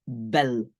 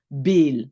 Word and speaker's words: bel: donc j'ai le mot belle belle cloche une sonnette belle c'est pas un long e c'est pas Bill parce que Bill pardon